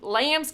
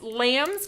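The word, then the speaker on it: Lammes: and it said uh thank you for calling Lamb's candies in Austin Texas so that's a really poor accent from the South but yes Lamb's candies is how you do pronounce that and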